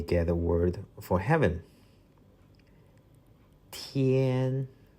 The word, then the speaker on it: 天: 天天天.